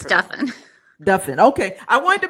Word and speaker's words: Duffin: sounds like muffin right it's pronounced like muffin and Duffin is